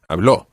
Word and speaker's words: habló: Okay, it's different from some of the other verbs because remember with hablar, we said habló and put the stress on habló.